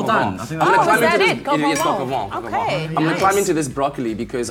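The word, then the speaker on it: coq au vin: go for, I don't even know how to pronounce it. It's like a chicken, it's a French name. Coq-au-vent. Well done. Oh, is that it? Coq-au-vent.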